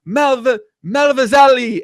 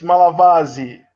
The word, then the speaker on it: Malavasi: Malavazali, a.k.a. Panda. No, man. Did I get it right, Bruno? It's Malavasi. Malavasi.